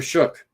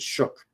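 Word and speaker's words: Shough: Tyler Shook. I think I think that's how you pronounce it. Shook. That G that gh is a is a shook.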